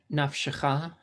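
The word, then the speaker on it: נפשך: So that word would be like nafshecha. Because the first one is silent, like there is no vowel, naf. And the second one is a short e.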